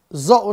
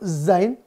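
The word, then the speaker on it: ز: sulit diucapin gitu ya apa coba dibacanya zo Ustaz ya zo lagi salah Kapan huruf Zain tiba-tiba bertransformasi jadi zo enggak ada ya sejak kapan ini berasal dari sini salah bukan ya ini tetap Za bukan jadi jadi huruf do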